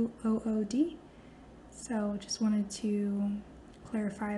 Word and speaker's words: Bythewood: Her last name is hyphenated, and the Bythewood actually is spelled the way that it sounds, Bythewood.